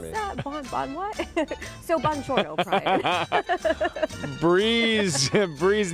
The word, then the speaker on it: Buongiorno: Buongiorno. Buongiorno. You know, oh my goodness, I've never seen that written out. If I mess it up again, she'll yell at me. What is that? Bon what? So buongiorno, Brian.